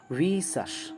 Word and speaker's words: vicious: और वाइस की एडजेक्टिव है, प्रोनाउंसिएशन बहुत इंपॉर्टेंट है इसका, VICIOUS, right, and it's pronunciation is वीशस।